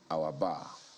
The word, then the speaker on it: Awabah: First of all, you need to, because our bar doesn't, it doesn't look like the way it's spelled AWABAH. Yes, it's actually Pidgin English.